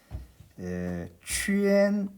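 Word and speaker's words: quān: 그 다음 취엔, 동그라미를 취엔이라고 그래요. 동그라미를 취엔 할 때 그 발음은 취엔입니다. 취엔입니다. 그러나 적을 때는 이 우물라우트를 생략하고 이렇게만 적습니다.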